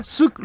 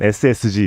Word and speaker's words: SSG: 이건 뭐라고 읽어야 되죠 쓱 랜더스 라고 욕을 합니까 스웨드 롤 뭐 가끔 읽으시는 데요 일단은 공식 명칭은 ssg 입니다 ssg 랜더스 4 랜더